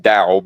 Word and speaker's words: Tao: It's Tao with a T, but I'm pretty sure it's pronounced Dao, but you know.